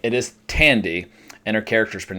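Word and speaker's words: Thandie: Her name is not Thandy, it is Tandy, and her character's name is pronounced Maeve, not Maeve.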